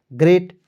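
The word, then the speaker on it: great: आ रहा है तो यहां पे दोस्तों ए को साइलेंट कर लीजिए ई से ए की मात्रा लगा दीजिए टी का ट लिख दीजिए ग्रेट अब बताइए दोस्तों इस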